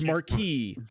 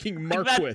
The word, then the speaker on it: marquis: already there guys it's marquee it's marquee it's not marquis that's like that's not